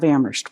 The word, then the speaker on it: Amherst: on behalf of the town of amrest where only the H is silent I want to welcome